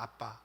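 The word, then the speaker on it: אבא: 아빠. 아마 여러분들도 어떤 말씀 시간이나 들어보셨을 것 같은데, 아람어의 아빠는 우리말의 아빠랑 거의 발음도 똑같고 의미도 비슷합니다.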